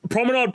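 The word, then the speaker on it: promenade: The R sound is completely different in French.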